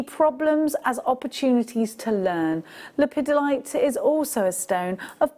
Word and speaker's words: lepidolite: pedi all right no it's lipidolite isn't it I always say it wrong Okay so lipidolite it's a stunning purple